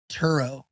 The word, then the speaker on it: Turo: We'll talk about that after this Toro ad. Turo. I think it's Toro. Turo. Anyway, whether you pronounce it correctly or not is still one of the greatest, the world's largest car sharing marketplace with Turo.